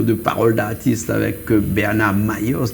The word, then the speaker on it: Mailhos: Bernard Mayos, Mayos, ça s'écrit M-A-I-2-L-O-S. Ah non, je voulais te dire, parce que j'avais vu, c'est ILH, alors je précise. J'ai jamais su où mettre le H. ILH, c'est le lieu occitan.